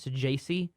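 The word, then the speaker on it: Saggese: Roby and and I I've heard it pronounced Thomas to jai It's s a g g e so I think it's Su ji is how it's it's a weird pronunciation but they were two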